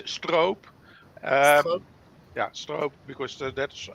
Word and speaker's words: stroop: you pronounce it because every time I hear people in the states pronounce it they say Stroop Waffle and I feel like that's totally wrong it is it is stroke um yeah stop because